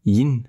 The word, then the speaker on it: Yin: prononcer in in in alors faites attention parce qu'en français on le voit souvent écrit avec un G à la fin dit le yin et le yang non attention Yin ne s'écrit pas avec un G c'est y N et donc Yin et vous entendrez la